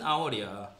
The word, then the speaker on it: hour: hour이잖아 hour. H지만 그래서 on hour이야 맞지?